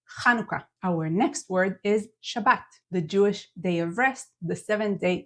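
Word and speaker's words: שבת: Sabbat to the end Shabbat and lastly if you're saying Sabbath with a th change it to a t Shabbat sh T at the end stressing the last syllable Shabbat and there these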